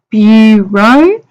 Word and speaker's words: bureau: hope you Rock recei last week and we pronounce it so Bureau so be you there's your shoe out there